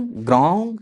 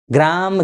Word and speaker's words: ग्रां: ग्राम ग्रीम नहीं बोलना है। व्याकरण दृष्टिकोण से यह अशुद्ध है। ग्रांग क ख ग घ अंग वाला ग नासिका और मुंह से आपको उच्चारण करना है।